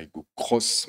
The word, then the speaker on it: Aygo X: toyota pour découvrir la iago cross même si ça s'écrit à hugo x ça se prononcer au cross on y tient chez